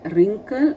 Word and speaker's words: wrinkle: In the box 3, I have read wrinkle, wriggle, and right. Okay, I have not made W wrinkle. I have not said W wriggle. Not said again. Not I have told W right. The W is silent.